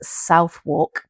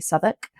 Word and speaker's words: Southwark: You will read it as South Walk, but it's actually Southwark.